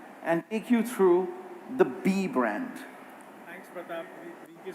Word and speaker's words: BE: So let's first begin by talking about B. I just want to clarify again, it's spelt B-E, but the brand is pronounced B.